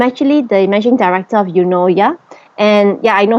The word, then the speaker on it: Eunoia: learn how to pronounce the word you know. Yeah. You know how our Malaysian style say you know you know. Yeah. It's actually the same pronunciation as that. Yeah. In fact, yoya is a Greek word.